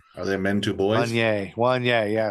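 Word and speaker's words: Wanyá: Wanye.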